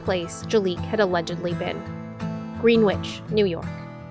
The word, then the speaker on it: Greenwich: Jaliek had allegedly been, Greenwich, New York. It's Greenwich, not Greenwich. Say it phonetically.